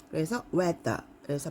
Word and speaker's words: weather: 텅을 이렇게 내밀고 발음을 하시면 됩니다. 그래서 weather, 그래서 발음이 좀 이렇게 weather라고 해주세요.